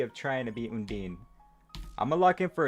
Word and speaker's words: Undyne: By the way, we ran the poll on the posts, and chat agrees that it is pronounced Undyne.